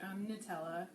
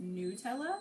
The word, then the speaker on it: Nutella: hazelnut so just like nutella which i just recently learned is actually pronounced nutella not nutella and that really bothers